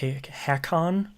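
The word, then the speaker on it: Hakkon: Dragon Age Inquisition DLC the jaws of H haon is how they pronounce it which is surprising um and I played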